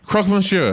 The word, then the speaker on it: croque monsieur: a croque monsieur how do you say here crosman sure oh she says it's so good so do